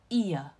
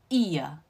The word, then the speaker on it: ear: 好，首先耳朵就它原来的发音哦， ear ear OK。